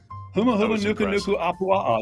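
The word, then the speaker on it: humuhumunukunukuāpuaʻa: I'm going to give him credit, but I don't think he can pronounce that ever again. You did a great job with it. Huma Huma Nuku Nuku Apua'a.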